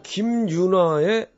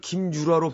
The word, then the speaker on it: 김윤아: 자, 김윤아의 봄날은 간다 들으셨습니다. 3098번님이 각서 얘기한 지 1시간도 안 되는데 김윤아를 김유라로 발음하시는 도현님.